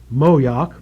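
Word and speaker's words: Moyock: Tuck County North Carolina in a community called moak spelled m o y o c k sure that's not moak that's how you'd pronounce it Bart and you insult me um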